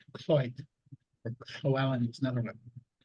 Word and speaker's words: Lloyd: Or LLOYD is pronounced Cloyd.